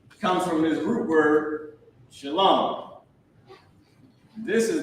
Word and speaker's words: Shalom: someone's breath or it's like the word Shalom like people mess up this word and say shalawam right they mess up and say shal comes from this root word Shalom this is not how